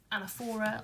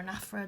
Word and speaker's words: anaphora: So we've got this anaphora or anaphora, depending on how you want to pronounce it.